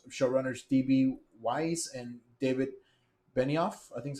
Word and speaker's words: Benioff: Weiss and David Benioff, I think is how you say it.